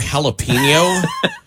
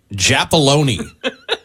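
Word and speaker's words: jalapeño: regarding the word jalapeno from the text line. I heard a friend pronounce it Japoloni.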